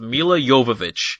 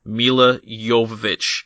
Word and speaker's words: Milla Jovovich: So we start with Milla Jovovich. And for those of you listening at home, that is the correct way to say her name. Milla Jovovich.